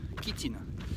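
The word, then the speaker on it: chitine: c'est un qui s'écrit shitine mais ça se prononce bien qui tin alors la quétine qu'est-ce que c'est la kitting qu'est-ce que c'est en fait c'est ce qu'on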